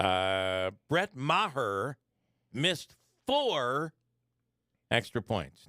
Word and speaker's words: Maher: kicker there's no question Chuck May her is uh I think it's her yeah that's how they're pronouncing it uh Brett Maher missed four extra points